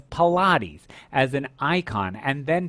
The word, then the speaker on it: Pilates: what it was when i used to pronounce it pilots and it was pilates as an icon and